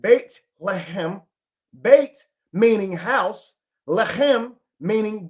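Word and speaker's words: בית לחם: The meaning of the word Bethlehem, Bethlehem in Hebrew, okay, Bethlehem in Hebrew, the city's name is pronounced Beit Lehem.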